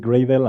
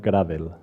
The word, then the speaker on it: Gradle: in the room is convincing you that this gets pronounce it Greville and not gravel feel free feel free